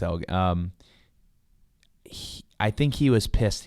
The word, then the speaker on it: Elgin: Let's say, but yeah, no, it's Elgin.